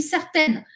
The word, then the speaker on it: certaine: je suis certaine que attention la différence de prononciation je suis certain je suis certaine les exemples je suis